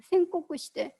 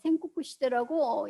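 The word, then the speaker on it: 戦国: 그래서 이 16세기 전반을 일본에서는 뭐라고 얘기를 하느냐면 생코쿠 시대, 한자로 전국이라고 쓰고 생코쿠 시대라고 읽습니다.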